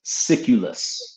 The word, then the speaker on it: Siculus: The author's name is Diodorus Siculus.